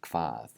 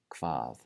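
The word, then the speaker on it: hvað: The HV combination is not pronounced hv, it's pronounced kv with the KV sound. So this word is kvað, kvað.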